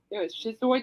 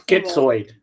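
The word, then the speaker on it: schizoid: So King Crimson basically invented progressive rock with 21st century shis shizoid man from 196 skitsoid.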